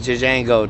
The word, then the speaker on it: Django: letter before he says my name is Jango the J is silent D isent you're not even supposed